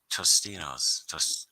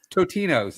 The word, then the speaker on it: Totino's: No, it's Totinos now. TOT no S.